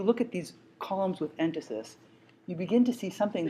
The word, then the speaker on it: entasis: You'll see the word written, but I'll spell it for you right now. It's called entasis, E-N-T-A-S-I-S.